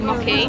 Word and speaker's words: mochi: Mochi. Mochi. Mochi. Yes. Mochi. It's actually quite funny because it's Japanese, mochi. So it's a little bit different pronunciation.